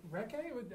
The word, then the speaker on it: Recce: And the topic of the presentation is going to be Bounce recce? How would you pronounce that?